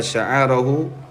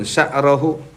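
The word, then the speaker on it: شعره: yuridu at-tadhiyah ala yuzila sya'arahu. Sya'arahu itu ainnya bi fathil ain. Itu alal absoh, sebagaimana kita ngikuti referensi kitab At-Tanbih. Tapi kebanyakan wal aksar itu dibacanya sukun sya'rahu, mana sya'arahu dubrahu.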